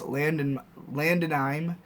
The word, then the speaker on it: Landonime: My profile is Landonime. Everyone should add me. It's pronounced like anime at the end. Oh, Landonime. So it's Landon, I-M-E.